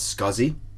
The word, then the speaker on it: SCSI: So the first one is SCSI, often pronounced as SCSI.